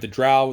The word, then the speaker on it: drow: of the way of the drow the dro however you want to pronounce it but this is essentially